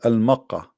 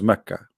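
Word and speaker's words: مكة: It's the same pronunciation, but in Yemen they say the ka, they make it qa. In Yemen, the letter ka, they pronounce it as qa. So they are writing here the name as a pronunciation, now not as written.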